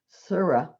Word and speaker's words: Sure: r e sure hannah according to the local yiddish pronunciation where she lives surah equals sarah and it's spelled s-u-r-e